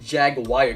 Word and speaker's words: Jaguar: the invisibility actually we're going to call it Jag Wire because apparently people like to pronounce it that way sometimes but yeah I don't